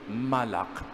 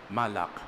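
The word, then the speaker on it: מלאך: Malak. Pakiulit nga po Malak. Actually pag pronounce parang ganito. Malak sige nga pakiulit nga. Malak para kayong naglilinis ng inyong lalamunan.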